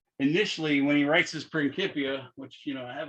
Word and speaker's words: Principia: Notice I'm pronouncing that C like a K. That's the nature of Latin, is there is no soft C as in Principia. It's only Principia.